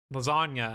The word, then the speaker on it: lasagna: No, there's literally a G right in the middle of that word, and you're telling me you don't pronounce it.